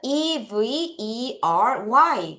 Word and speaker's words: every: 세 번째 단어는 E v e r y. 그래서 여러분, e가 무슨 발음?